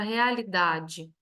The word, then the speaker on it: realidade: segunda atividade nós temos na palavra realidade a sílaba tônico dá que é uma paroxítona e ela é uma polissílaba porque tem mais de